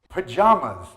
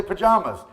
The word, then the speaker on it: pajamas: Pajamas. Some people say pajamas. Pajamas. They're both correct.